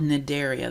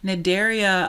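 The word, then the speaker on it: Cnidaria: from the filum called nidaria the C is silent here nidaria um includes organisms like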